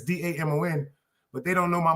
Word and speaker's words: Damon: So the A is silent. That's why my name is Damon. It's a French name.